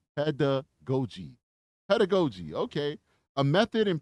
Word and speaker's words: pedagogy: So she said somebody spelled it out phonetically for me. So it's pedagogy.